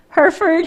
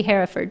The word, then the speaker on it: Hereford: now her for hereford herford heritage why do i want to put another e in there because it's written that way phonetically it seems like it should be hereford but it is not hereford that's what it is